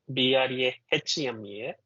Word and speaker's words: Brahma: The word Brahma, B-R-A-H-M-A, even though it is written as HMA, it is to be pronounced as MHA, Brahma.